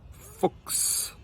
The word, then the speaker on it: Fuchs: followed by an S, that sound is actually like a KS or like an X sound.